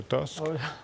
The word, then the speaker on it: Tusk: aujourd'hui Donald Tusk ouais c'est ça tousk ou Tusk selon la prononciation locale que que finalement la